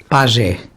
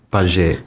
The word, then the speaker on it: PAJE: PAGE. PAGE. Plataforma de Apoio a Jovens Ex-Acolhidos. Gostamos de pronunciar PAGE porque nos remete para as tribos da Amazónia, que o PAGE é aquele